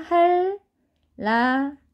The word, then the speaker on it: 한라산: 이렇게 발음 하셔야 된다는 거예요 자 그 다음에 한라산 요것도 자니 윤이 리얼로 변합니다 할 아 자 우리가 글씨로 보니까 되게 어색한 데요 발음은 이렇게 하셔야 되는 거예요 자 그 다음에